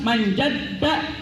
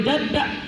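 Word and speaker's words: مَنْ جَدَّ: Ini dalam kalimat jadda, jadda yang pertama itu ada tasdid. Ada tasdid. Jadi bacanya itu harus ditahan sejenak. Tapi nggak boleh kita narik nafas. Manjadda, nggak boleh jadda. Kagak. Tapi manjadda ditahan sejenak.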